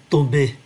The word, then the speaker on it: tomber: En me retournant brusquement, je l'ai fait tomber. Ký tự M, chúng ta phát âm là N, do vậy đứng trước ký tự B.